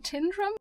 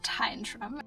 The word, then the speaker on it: Tyndrum: We have made it back to the van, back to Tyndrum, which is apparently how you pronounce it. I don't know. I feel like I've always heard people saying Tyndrum, but I got to talk with an older gentleman on the train and I asked him how it's pronounced and he said Tyndrum.